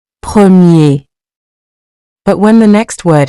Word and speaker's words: premier: On its own, you don't clearly pronounce the final R. Premier. Premier.